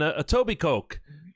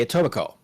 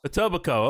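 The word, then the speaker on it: Etobicoke: native speaker would say a tobico okay as opposed to a toac Coke we don't we don't emphasize the coke here folks because we're not you know coke heads oh jeez a tobaco okay that's how you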